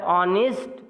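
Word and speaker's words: honest: And here ऑनेस्ट जो word है H silent है और ओ से प्रोनाउंसिएशन शुरू हो रहा है, अर्थात option number C इज the right answer.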